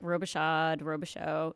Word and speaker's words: Robichaud: It's like Robichaud. Yeah. Okay, I see it. I see Robichaud.